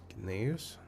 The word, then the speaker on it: Gnaeus: I think it's Gnaeus. Because it seems to use like some kind of Latin nonsense. Or Latin inspired nonsense. And then I think all letters are pronounced.